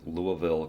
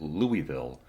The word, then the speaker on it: Louisville: in Louisville, Kentucky, and you pronounce it Louisville, you can definitely let some of the locals there know that you're from out of town because they pronounce it Louisville, even though it looks like it's spelled Louisville.